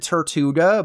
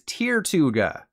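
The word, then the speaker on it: Tirtouga: Pirates of the Caribbean I've always said Tortuga but when I found out I was wrong I began to cry which was a good thing because the true pronunciation is tirtuga do you do you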